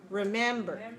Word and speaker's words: remember: about the word remember how many syllables remember three syllables good where's the set where is the stress syllable the second one is stress so this is a three two word all right so in this word man is longer so short long short remember remember remember the